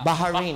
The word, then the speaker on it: Bahrain: Yun ang tamang pronunciation, ha? Tama. Bahrain. Bahrain.